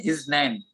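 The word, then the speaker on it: isNaN: हिंदी में अगर जैसे उसका प्रोनाउंसिएशन है इजनैन, इंग्लिश में उसकी जो एक सिंटैक्स है या जो कैरेक्टर्स है जिसको नोट करते हैं वो ऐसे लिखते हैं, IS फिर N कैपिटल फिर A स्मॉल फिर N कैपिटल, इजनैन।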